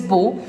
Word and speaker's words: Beau: Bottips, yes, its pronunciation is bow and the spelling is B-E-A-U, Bottips.